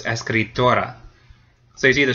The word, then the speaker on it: escritora: So now it does end in a vowel, so the second to last syllable gets stressed. So it's escritora.